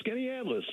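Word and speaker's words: Skaneateles: Let's go to Harry in Skenetal. Is that how we pronounce that? I don't know. Hey, Harry. Yeah. Yeah, it's in Skinny Atlas. Skinny New Atlas, York.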